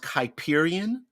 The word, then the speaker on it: Kuiperian: This is pronounced Kuiperian because it's the Kuiper Belt, and Lagrangian.